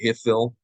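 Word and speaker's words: Hiphil: So we're going to look at the Hifil, or Hifil, H-I-P-H-I-L. It's spelled H-I-F-I-L in your book, right?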